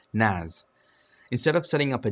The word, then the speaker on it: NAS: A relatively affordable solution for file storage hardware is to use a network attached storage, or NAS, pronounced NAS, instead of setting up a dedicated server like you would other services.